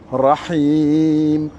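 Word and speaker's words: الرحيم: Et le ha, c'est comme le ha de Rahman, de Alhamdulillah. C'est un ha qui est fort. Il n'est pas comme Ihdina ou Allah à la fin de Allahi. C'est pas ce même type de ha.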